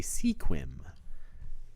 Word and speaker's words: Sequim: for Elma to play Sequim which yes I know it's pronounced squim oh that game didn't